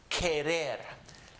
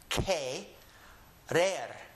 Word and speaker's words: querer: And anytime you see the Q-U-E, pronounce it as if you're saying in English, ke. Here are two words over here. Yo quiero and querer.